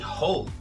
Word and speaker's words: whole: Então, no caso de whole, com W, que significa inteiro, você vai ter a mesma pronúncia de hole, buraco.